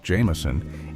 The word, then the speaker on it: JMSN: JMSN, pronounced Jameson, is an artist who defines the word grind.